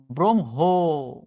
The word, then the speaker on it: ব্রহ্ম: হচ্ছে ব্রাহ্মণ নট ব্রাহ্মণ ব্রহ্ম আপনি উচ্চারণ করেন ব্রহ্ম আসলে এটা ভুল উচ্চারণটা হচ্ছে ব্রমহ এত সোজা না আবার